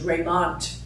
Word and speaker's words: Raymont: By the way, if you do research him, his name is Raymont.